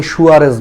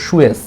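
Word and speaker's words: sewage: একটা কাহিনী আছে, আমরা বাঙালিরা কিন্তু একটা ভুল উচ্চারণ করি, আমরা বলি সুয়ারেজ বলি, যে সুয়ারেজের লাইনে সমস্যা হয়েছে, আসলে উচ্চারণটা সুয়ারেজ না, উচ্চারণটা আসলে হচ্ছে সুয়েজ, ইংলিশে বানানটা হচ্ছে এটা কেন জানি আমরা সুয়ারেজ বানায় দিছি।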